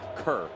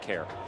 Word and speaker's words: Kerr: let him know that it's pronounced kerr not care oh i gotta make